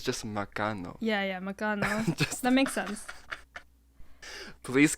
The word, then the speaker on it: magkano: of something, just ask, Makana ko. Makana ko. Makana ko. I'm not saying it right. No, you're not. Makana ko? Whatever, dude. I'll just put it up on the screen here. It's magkano.